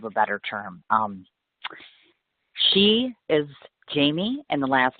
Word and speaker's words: Jamee: She is Jamie, and the last name is spelled Natella.